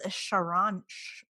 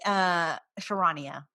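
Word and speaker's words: Charania: Also, which I thought was very interesting, is Shams Sharon. Why do I always fuck his name up? Shamwow. He Sharania.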